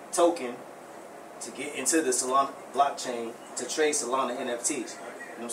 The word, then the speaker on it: Solana: Solana, there you go. That's how you say it.